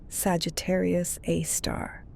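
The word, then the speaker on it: Sagittarius A*: Sagittarius A, pronounced Sagittarius A. Star, is a super massive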